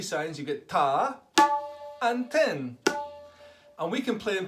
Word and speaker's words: tin: this sign and that sign is called ten as in TI n 10 but the N signed you kind of pronounced it through your your nose and I'm